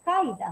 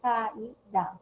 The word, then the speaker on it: caída: Aquí, por ejemplo, la palabra caída. Nosotros decimos caida, ¿no? Sino la palabra es caida, ¿no?